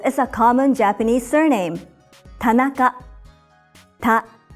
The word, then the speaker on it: Tanaka: a common Japanese surname Tanaka TAA it's made up of three syllables ta na each syllable consists of one consonant and one vowel another common surname in